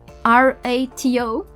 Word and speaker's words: rato: so correctly, but probably the R that is on rato, R-A-T-O, they won't pronounce it like we do, rato, r.